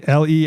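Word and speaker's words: Leigh: How do you say le e i g h?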